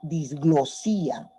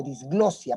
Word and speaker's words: disglosia: Otro trastorno del habla, tenemos la disglosía, o disglosia, para hacerlo más claro, disglosia, no lleva tilde.